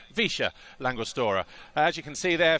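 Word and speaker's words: Villa La Angostura: to noiken but outside the town of via langostore or as the locals say visha langustora as you can see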